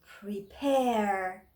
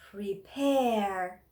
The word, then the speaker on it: prepare: of the second p so means this stress is on second part of the word second syllable and we have to pronounce it prepare prepare now what do i